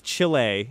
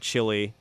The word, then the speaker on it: Chile: But it's Chile. It's not chili, like chili you'd eat from a bowl.